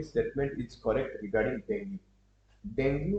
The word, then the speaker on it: dengue: is correct regarding डेंगू डेंगू बा डेंगू भी कहि परबे डेंगी भी कहि परबे आपन डेंगी होची तार करेक्ट प्रोनाउंसिएशन डेंगी जो रहला आपन ये